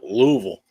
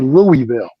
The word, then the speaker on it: Louisville: are very okay yeah that would with your pronunciation of Louisville oh Lou Louisville yeah I mean you basically